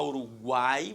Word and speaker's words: Uruguai: Então, se você fala Uruguai, você pronuncia o U.